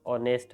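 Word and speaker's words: honest: और वर्ड है जिसको आज हम ऑनेस्ट प्रोनाउंस करते हैं ऑनेस्ट लेकिन एच साइलेंट होता है इन फ्यूचर इट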